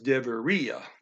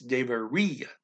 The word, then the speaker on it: debería: It's debería. Emphasis on just the I.